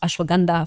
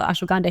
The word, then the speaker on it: ashwagandha: And so even ashwagandha it's pronounced ashwagandha for us but in the general American sense we call ashwagandha here.